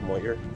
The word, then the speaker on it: Moher: It's spelled Moher, but it's pronounced Moher.